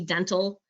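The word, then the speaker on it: dentil: And for those who are unfamiliar with the term, it's dental, D-E-N-T-I-L, saying it for the public's purpose. And basically it looks like little teeth. It's just spelled with an I-L.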